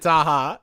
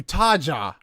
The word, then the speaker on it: Taha: also remember is that bg pronounced mispronounced your name like every other time what did he call you he could no no he called you taja he called you taja